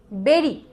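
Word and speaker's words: bury: মাটির তলায় লুকানো ছিল তখন আমি এটাকে পড়েছিলাম বুড়ি বলে ছোট ছিলাম তখন পড়তে পারিনি তো বিড়ি মানে কি বেরি মানে হচ্ছে পুতে রাখা ঠিক আছে তারপরে দেখ আচ্া আচ্ছা এটার উচ্চারণ হচ্ছে ক্যাশ।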